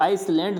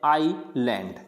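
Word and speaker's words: island: इसको आइसलैंड नहीं पढ़ते, इसको क्या पढ़ते हैं, आईलैंड, क्या पढ़ा जाता है इसको, आईलैंड।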